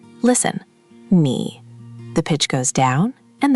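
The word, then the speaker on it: 你: Good start, but you said it flat, like nee, with no movement. Tone three has to dip. Imagine your voice walking down into a valley and climbing back out.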